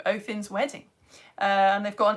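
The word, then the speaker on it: Óðinn: mythology, Othin, which is like Odin, but the proper way of saying it. I know, right? Who knew? Othin's wedding.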